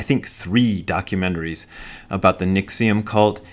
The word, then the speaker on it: NXIVM: I've watched I think three documentaries about the nixium cult it's spelled nxivm I think so go look it